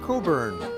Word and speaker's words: Cockburn: The name is spelled Cockburn but it's pronounced Cockburn.